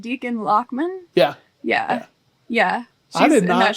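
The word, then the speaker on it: Dichen Lachman: page of actress yeah that's I how her name is pronounced Deacon lochman yeah yeah yeah she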